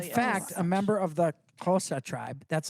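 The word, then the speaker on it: Xhosa: The language is kosa. That's how they say it.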